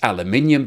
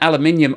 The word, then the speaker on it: aluminium: impact on the Chinese aluminium business and apologies to anybody that didn't understand what I just said because aluminium is the British pronunciation of the word aluminum now aluminum and aluminium are exactly the same